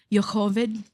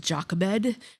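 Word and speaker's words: Yocheved: know that story about Moses and his mother, Yhovid. Now, I always heard it pronounced Jockabed.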